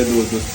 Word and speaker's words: Dudut: Pero mabait siya sa personal guys, Kuya Dudut. Siya po ay isang cast ng isang... Kuya Toto. Di ba walang T yun? Kuya Dudu lang.